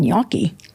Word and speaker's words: gnocchi: So Americans have gotten very good at saying gnocchi. Gnocchi. That's, you see that and you go, no. But you can say it. Yeah. The gnocchi. And anything with the GN, a lasagna.